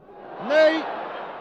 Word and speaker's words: Ney: Cela s'écrit comme notre maréchal, Ney, mais ça se prononce Ney, Ney, que voici sur